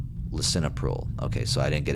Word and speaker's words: lisinopril: I don't want to keep pronouncing it wrong. Lisinopril.